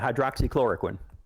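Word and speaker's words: hydroxychloroquine: What is the way to pronounce that? Yeah, hydroxychloricquin.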